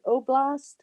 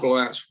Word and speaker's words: Oblast: Is that what they call an oblast? And I might not be pronouncing that correctly.